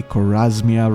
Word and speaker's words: Chorasmia: Chorasmia, the region, was spelt with a K, Chorasmia rather, and Carmania was like Carmania.